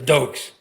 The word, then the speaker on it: Doak: Now it's time for the Dokes. But if you say Doke, you got to say it properly. How do you say Doke? Doke! That's right. Doak. It's like someone just goosed you, just sat on something like that.